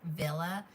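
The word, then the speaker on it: Wille: It's said Villa, but it's spelled W I L L E. It is a German company.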